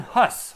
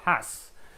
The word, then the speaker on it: Hus: Next one is John Hus or John Hass. Um, it depends on your pronunciation.